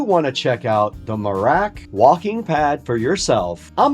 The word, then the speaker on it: Merach: So, overall, the Morack, again, it's pronounced Morack, not Morocco, Ultra Walk W60 Walking Pad is a really